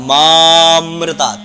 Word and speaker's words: मामृतात्: सीधा मामृतात् लिखते हैं बाकी इसमें आ का उच्चारण होता है मा अमृता मा अमृता यह उच्चारण सही होता है अगर आप गलत उच्चारण